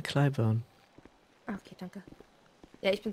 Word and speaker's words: Clybourne: Ja, wie spricht man das aus? Clayburn? Clyburn.